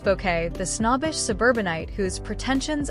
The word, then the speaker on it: Bucket: But it was keeping up appearances from 1990 to 1995 that immortalized her as highest and bucket pronounced bouquet the snobbish suburbanite whose pretensions and pratt falls drew up to 13 million viewers earning BAFTA nods in 1992 and 1993.